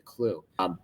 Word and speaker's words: clew: with the kids, because I haven't got a clue what to call the last corner, so they just called it the clew. The only wrinkle in that, it's spelled CLEW, just to make it extra fun.